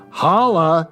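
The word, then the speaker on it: holloa: a more miserable business holla you sir h-o-l-l-o-a it's basically pronounced holla this was addressed to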